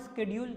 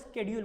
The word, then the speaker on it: schedule: अभी पढ़ते हैं क्या कि डिमांड शेड्यूल क्या होता है। देखो डिमांड, ये शेड्यूल बोलते हैं ना, इसको शेड्यूल नहीं बोला जाता, उसको क्या बोला जाता है, स्केड्यूल बोला जाता है ना।